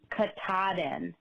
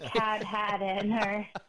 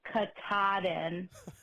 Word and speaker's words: Katahdin: in maine is pronounced katahdin not cat had in her i was laughing as you guys tried to pronounce it on the show it's kakadin with the emphasis on the t-a-h in the middle so i hope that